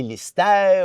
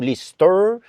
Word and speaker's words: Lyster: Je fais mes fait mes devoirs parce qu'en plus parenthèse c'est que les gens peuvent prononcer l'ister ou lister mais vous vous le prononcez très bien lister.